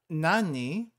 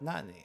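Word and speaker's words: 何: careful here uh Na Nani I don't think we've uh I don't think have we come across this before Nani is pronounced as Nan and not Nani okay they kind of explain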